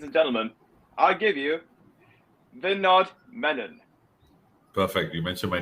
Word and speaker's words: Vinodh Menon: Because, ladies and gentlemen, I give you Vinodh Menon.